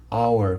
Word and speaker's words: hour: Porque o H, ele é, H is silent, ele não vai ter o som, certo? Por exemplo, de home, que é lar. Aqui vai ser hour, portanto, an hour.